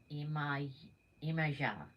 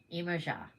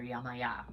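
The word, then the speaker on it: Yemaya: Okay, pronounced Imaja. Imaja. Okay, I had it pronounced in the Yoruba tradition, in the type of Santeria that my friend Petra back in San Francisco had practiced. We call her Yamaya, but it's everybody pronounces it differently.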